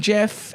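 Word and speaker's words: Gef: It is pronounced Jeff, not G.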